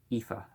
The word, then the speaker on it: Aoife: the second of whom was named ah boyf pronounced Aoife okay yeah I never would have thought that